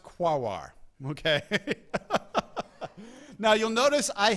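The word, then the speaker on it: Quaoar: quar Sedna and orcas okay yes it is pronounced guar okay now you'll notice I have left out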